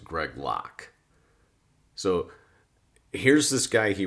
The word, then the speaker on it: Greg Locke: was more angry that i mispronounced pastor greg locky's name because it's actually pronounced greg locke so here's this guy